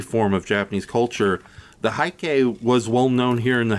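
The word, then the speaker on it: Heike: Haiki, yeah. Yeah, Haiki. Long before I saw this movie, and growing up as, like, a little kid unfamiliar with any form of Japanese culture, the Haiki was well-known here in the house because me,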